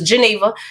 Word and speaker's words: Geneva: when people ask me I say my name is Geneva Geneva like the Lake Geneva like Switzerland Jenni would like to